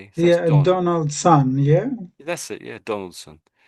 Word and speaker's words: Donaldson: And most people just say it as sun on the end, sun. Donaldson. And really, whatever you see s o n on the end or something like that, you'll it'll probably be sun. It's strange, isn't it? So, you just have to get used to it, really.